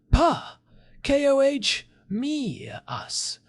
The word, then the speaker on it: Pachomius: That is where Pachomius the Great comes in, pronounced Pa, K-O-H, me, us.